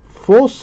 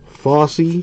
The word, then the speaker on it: Fosse: Ray Foss, maybe? The E is silent. Either way, cool looking card for the Indians. Autographed /99. Very nice. Fossey. Foss E. That's how you pronounce that.